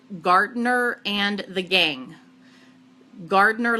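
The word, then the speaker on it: Gardner: gardener and the gang gardener like gah like you know you work in the garden but it's spelled GA rd n er and the gang chi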